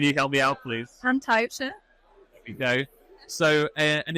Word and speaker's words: Taibhse: English is The Ghost, but I'm going to butcher the pronunciation, so can you help me out, please? Taibhse.